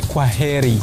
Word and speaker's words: kwaheri: In Swahili we say kwaheri. Kwaheri.